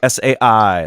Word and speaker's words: psi: SAI, like sigh. sigh.